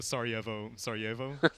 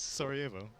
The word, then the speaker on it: Sarajevo: One day, perhaps the Sarajevo. Is that how you pronounce it?